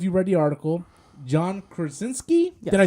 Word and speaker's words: Krasinski: rumor is, I don't know if you read the article, John Krasinski? Yes. Did I say it right? I fucking Krasinski. said it right. Yes, you did. Krasinski, yes.